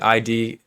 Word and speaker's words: id: be confused with that it's literally ID pronounced like lid ID so he developed views